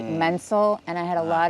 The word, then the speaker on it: Menzel: So my real spelling of my name is Menzel, which everyone would say Menzel, and I had a lot of self-hatred about